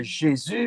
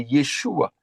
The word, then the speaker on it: Yeshua: Hm c'est pas Jésus mais c'est Yeshua.